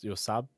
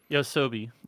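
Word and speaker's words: YOASOBI: yeah, Yosab? Is it Yosabe? Yosab? something like that. I'm trying to remember the actual pronunciation. Pronunciation. Yosobi.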